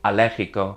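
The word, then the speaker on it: alérgico: So, drop one of the L's and then change the IC to ic to give you allergico.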